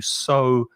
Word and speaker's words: sow: in the ground you sow seeds and the pronunciation of so is like s-o uh exactly the same so you sow and